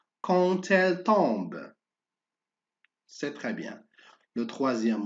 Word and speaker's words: quand elle tombe: Alors, on fait attention à D, on prononce T. Quand elle tombe.